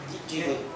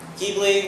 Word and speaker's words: Ghibli: 1984, Studio Ghibli releases Nausicaa? I don't know if I should pronounce that A differently.